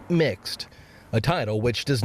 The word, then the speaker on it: Mx: use the pronoun mister instead using mx pronounced mixed a title which does